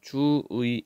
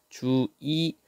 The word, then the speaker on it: 주의: 둘째 음절에 있죠 그니까 원래는 주의 이렇게 발음해야 되지만 주이 이렇게 발음하는 것도 허용한다 다음 조사의는 자 조건입니다 조사의